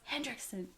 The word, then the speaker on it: Hendrickson: I had no clue I'd said it wrong, and then Grant goes, Hendrickson. It's Hendrickson.